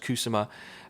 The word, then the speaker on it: Kusama: Yeah, and this director, really quick, Karen Kusama, I think it's pronounced Kusama.